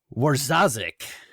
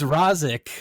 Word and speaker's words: Wawrzaszek: totally butchered so i'm going to give it a shot here warzosik oh my gosh spot spot-on i i wanted i keep wanting to say it was rosic which i'm sure you